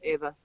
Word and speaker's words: Eva Green: than I I say Eva Green you said Ava Green which is it she's French so it's Eva are you are you